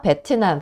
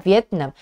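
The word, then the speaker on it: Vietnam: 돼 있죠 자 논나 베트남 비엣남 이거 베트남이라고 읽으시면 안 되고 vipt 남이라고 읽으셔야 돼요 베트남의 논나 자 사람들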